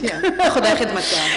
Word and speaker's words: Khudai Khidmatgar: We had a conversation before where she said, my challenge as a Brit is to pronounce, is it Khudai Khidmatgar? We'll give you points, Khudai Khidmatgar.